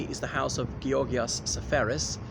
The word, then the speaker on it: Seferis: now behind me is the house of Geass sephorus it's also the Greek embassy here in London I'm a Brook Street so he's known as Georgia Farris in English but anyway I'm just pronouncing at